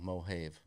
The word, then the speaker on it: Mojave: I think it's the Mojave. How do you spell it? Mohave. Yeah, how do you pronounce the word Have? Have. Yeah, so Mojave.